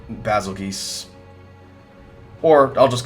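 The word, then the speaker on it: Bazelgeuse: called the the goose some people thought it was basil juice kind of like the star Betelgeuse it's spelled the same way in Japanese it's written as bazookas so that's why I call it basil geese or I'll just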